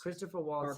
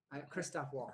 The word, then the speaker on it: Christoph Waltz: Christopher Waltz. Or Christoph Waltz. Christoph Waltz, yeah.